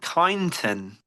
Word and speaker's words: Kyneton: a beautiful segue into obviously promoting our next show in Kyneton, I believe is the correct pronunciation.